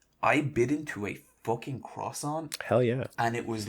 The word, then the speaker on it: croissant: Next time, don't embarrass yourself and pronounce it properly. It's a croissant.